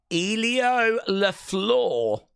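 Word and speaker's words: Elio LeFleur: Elio Laflur is how you pronounce the name.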